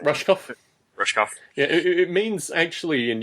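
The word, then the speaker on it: Rushkoff: the is that I don't know how to pronounce the last name. Rushkov.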